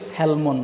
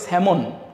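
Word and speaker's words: salmon: এবং এই মাছটাকে বাংলায় আমরা বলি সেলমন মাছ। কিং সেলমন সেলমন মাছ এরকম আমরা বলি। বাট এটা কিন্তু সেলমন না। আমরা এইখানে যে লটা দেখতে পাচ্ছি বা এলটা দেখতে পাচ্ছি এটাকে যদি আমরা বাদ দেই তাহলে এই শব্দটার সঠিক উচ্চারণটা আমরা পেয়ে যাব।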